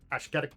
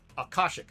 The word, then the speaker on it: Akashic: was a series of conflicts between the uh Ashketic brotherhood and the Ethanos so uh I never say their name. Uh, Akashic, Akashic Brotherhood.